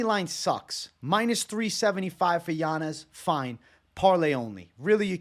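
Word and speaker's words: Yanez: order we'll start with Adrien janz first or yanes as he likes it pronounced now he should kill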